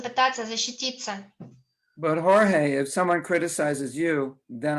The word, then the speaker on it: Jorge: hmm there's a saying his name is in Spanish its Jorge it's pronounced Jorge in Spanish yes um yeah so